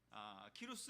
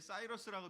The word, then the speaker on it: 키루스: 그리고 그 왕이 키루스 왕, 영어로는 이제 사이러스라고 되어 있는데 키루스, 우리 발음으로 또 키루스로 되어 있고요.